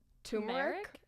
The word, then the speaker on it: turmeric: Is it Turmeric? or turmeric? Yeah. Turmeric. You're lying. No, I swear to God. That's how you pronounce Wow.